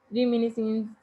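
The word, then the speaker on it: reminiscence: Other characters रिमाइनेंस, ये जो है बहुत डिफ़िकल्ट टर्म है, इसको मैं कभी जो है ना आपको रिमिनिसेंस इसका प्रोनाउंसिएशन है इसकी, लेकिन इसको मैं कभी बाद में डिस्क्राइब करूँगी।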